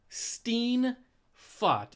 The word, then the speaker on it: Steenfott: So not only can no one pronounce my last name, which it's spelled perfectly phonetical, Steen Fot. If you separate that, you're going to say Steen.